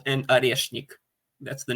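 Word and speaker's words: Орешник: Yeah, it's Oreshnik.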